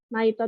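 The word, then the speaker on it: ナイト: Kalau misalkan ada naik, kalau kalau orang Jepang tuh kalau nemu bahasa Inggris naik, pasti bacanya Naito gitu.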